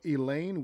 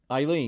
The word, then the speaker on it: Eileen: Well, Elaine says hi. Oh, hi, Elaine. Eileen. Eileen, I'm sorry.